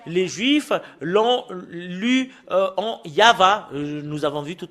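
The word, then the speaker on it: יהוה: le lire selon la Sainte Écriture hébreu c'est yava qu'on le prononce et vous pouvez pas lu faire une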